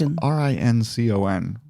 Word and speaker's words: Rincon: A Subway in Rincon, is that how you pronounce it? Georgia? Rincon? It's Rincon. Yeah.